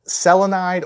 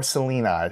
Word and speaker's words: selenide: You can call it selenide or selenide, however you want to pronounce that.